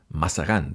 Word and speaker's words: Mazarin: ahora se va a llamar Jules más cerrado mashadán se escribe mazarín no a francesa su nombre completamente